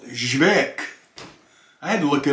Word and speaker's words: Żywiec: YouTube and other sites, telling you how to pronounce this, including one drunken Polish man. And he said, ŻYWIEC.